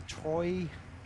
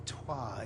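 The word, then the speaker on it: Troyes: from him 24y old from Troy or twah I think it's pronounced is I've always thought that was pronounced Troy but it's twah isn't it just in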